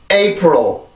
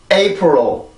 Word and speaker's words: April: 그럼 A, pro, A, pro, April, April, April. 한 번 더 April, April, April. 자, 이렇게 발음이 되는데 지금 여기를 우리나라 말로 쓴다면 풀일이라고 쓸 거야 아마.